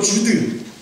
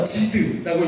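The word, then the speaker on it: זוד: 교만이라는 말은 히브리어로 주드, 또 상황에 따라서 지드라고 읽기도 하는데 그 해석이 이래요.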